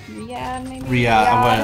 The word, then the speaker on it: Riyadh: Riyadh.